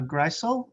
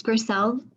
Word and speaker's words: Grisel: good welcome thanks and apologies for mispronouncing your name um uh greysel gristle hi it's grisel thank you yes hi